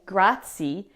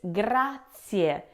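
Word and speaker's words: grazie: Don't say grati. It's gratier. Now many English speakers drop or even blur that final e. But in Italian, every vow is pronounced clearly and separately. So make sure you say both the i and the e. It's s at the end, not c gratier.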